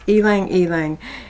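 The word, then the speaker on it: ylang-ylang: you know that word Y L A NG I didn't know how to pronounce it I had to look it up it's elang elang it means flower of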